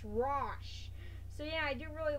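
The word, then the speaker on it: Ra's: pronounce his name seriously a lot of people say it as Ross it's Ross so yeah I do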